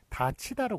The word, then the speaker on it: 닫히다: 그 발음은 요게 디귿이 넘어가면서 티읕이 되고 그 다음에 이 앞에서 구개음화가 되기 때문에 다치다로 그렇게 발음이 되죠.